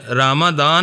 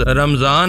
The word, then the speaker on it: رمضان: کا فیصلہ کر لیا۔ کچھ لوگ اسے رامادان اور بعض رمضان کہتے ہیں، مگر میں رمضان کو ترجیح دیتا ہوں۔ اس کا صحیح تلفظ رمضان ہے، جو امریکہ میں بگڑ کر رمضان ہو گیا ہے۔ رمضان، وہ لفظ دہراتے